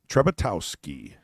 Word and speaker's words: Trzebiatowski: It's like it almost looked like, Yeah. but it's Towski.